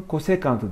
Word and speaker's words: kosekant: Ordinatına da arkadaşlar bu alfa açısının kosekantı diyeceğiz. Bu da CSC alfa diye yazabiliriz kısalık olsun diye. Ama COSEC alfa diye de yazılabilir bazı kitaplarda. Okunurken de kosekant alfa diye okuyoruz. Kısaca kosek de diyebiliyoruz biraz daha kanki olunca.